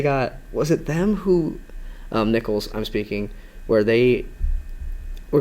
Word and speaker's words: Nichols: It's pronounced Nichols, right? Yes. Okay. I mean, I Nichols.